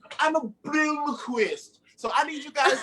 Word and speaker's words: Blomquist: I pronounce it with like a Midwestern accent since I'm from Indiana. So it's more like Blomquist, you know, like it's just a real like hard nasally sound.